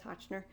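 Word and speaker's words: Hotchner: were based on and mr hochner that's his name hochner if i said it wrong before it's hochner he was taking notes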